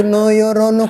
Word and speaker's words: Nojorono: Tulisannya memang Nojorono. Tapi kayak tadi gue bilang itu ada perubahan. Gua yang bilang. Oh, yang bilang. Ya, seperti yang lu bilang. Bacanya itu Noyorono Kudus.